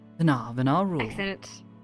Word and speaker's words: Varent: No, no, that's that's exactly how I like it pronounced. Varent.